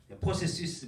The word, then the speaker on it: processus: Le processus d'unification de l'Europe, 유럽의 단일화 과정. 유럽의 통일 과정, 유니피카시온 통일이죠. 예. 유럽이 하나 되는 과정, 포세시스 마지막에 S까지 발음합니다.